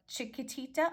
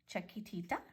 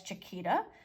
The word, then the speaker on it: Chiquitita: At first I was reading it as Chiquita, but I'm like, wait, no, it has too many T's in it at the end.